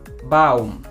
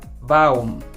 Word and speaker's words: Baum: Par exemple, Baum, Baum, kaum, kaum, Raum, Raum, Zaun, Zaun, Kauf, Kauf, Lauf, Lauf. Donc si vous écoutez bien, AU se prononce AO, AO.